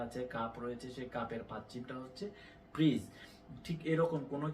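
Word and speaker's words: 받침: আমিও যখন প্রথম শিখেছি আমার কাছে ভয় লেগেছে, বাচ্চিম এটা আবার কেমন নাম। আসলে বাচ্চিম না, এর সঠিক উচ্চারণ হচ্ছে ফাচ্চিম।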